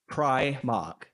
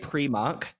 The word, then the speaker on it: Primark: from the word go is how do you pronounce Primark Primark I do not say premark premark because you know nor like in the